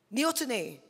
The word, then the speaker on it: neoteny: actually not entirely sure if I'm going to pronounce this right. Feel free to correct me if anyone knows. Neoteny? Neoteny? Anyone know? Neoteny!